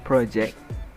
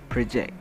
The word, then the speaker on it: project: stress it is project there are two ways to pronounce this way the first one is project the second one is project for project the example